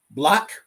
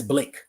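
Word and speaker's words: blæc: And so you have this word here, right? Block, or sometimes pronounced as Blake, right?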